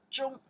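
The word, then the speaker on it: 中: This is character pronounced Zhong.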